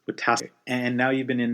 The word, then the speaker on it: Wetaskiwin: Derryl is from Alberta, I don't want to mispronounce the name of the town, Derryl. It's Wetaskiwin. Wetaskiwin.